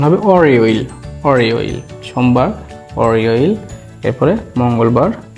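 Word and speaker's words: 월요일: সোমবারটা দিয়ে ছিল কি হচ্ছে ওয়াল ইয়োইল, এটা হচ্ছে সোমবার, উচ্চারণ হবে অরিওইল, অরিওইল, সোমবার অরিওইল।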